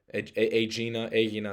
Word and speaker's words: Aegina: I've been to Aegina, Aegina is how they say it in Greece, Hydra, Hydra, and I've been to Poros, which is like an island by Athens.